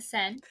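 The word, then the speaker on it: Seine: I can't ever pronounce the river. The Sen.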